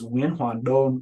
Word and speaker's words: Nguyen: It is pronounced when uh you say it in Vietnamese, I would introduce myself as winon, which is uh last name first, middle name,